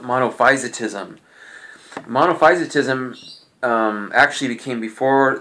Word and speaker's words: monophysitism: Um today we're going to be looking at monofisotism. That's how it's pretty much properly pronounced. Again, some people pronounce it monophysitism. I've pronounced it both ways.